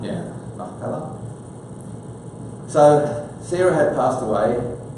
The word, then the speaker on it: Machpelah: That's how you would pronounce it in Hebrew, isn't it? Machpelah. Yeah, Machpelah.